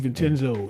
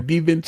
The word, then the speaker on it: DiVincenzo: I can't never pronounce his name. DiVincenzo. Shout out to Delaware. DiVincenzo.